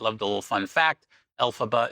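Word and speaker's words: Elphaba: Alphaba is the first three syllables of LFrank Bomb. Alphaba.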